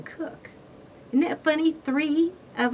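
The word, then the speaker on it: Koch: Her name was K-O-C-H, no relation at all, and she pronounced it Cook, I think. But while I was in Washington, D.C., there was a young man I worked with. He was a fingerprint expert also. His name was K-O-C-H, but he pronounced his name Cook.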